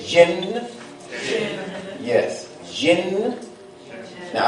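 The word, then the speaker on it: ج: Jim yes Jim now I don't want you to pronounce it like the English day I want you to pronounce it like the French Jay you know that sweet like Jacques Jim that's how it should be pronounced so you began to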